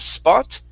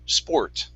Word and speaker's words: sport: the word sport so make sure with the or you're pronouncing that r instead of spot it's spore sport very good and the